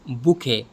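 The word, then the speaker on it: bouquet: बुके, इसमें भी T silent है।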